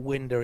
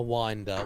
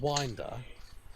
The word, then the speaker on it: Winder: contingent is watching ah correcting my pronunciation thank you very much it's definitely window is now winder winder winder I just remembered yeah we asked him is it me or is it winder he said winder but I forgot you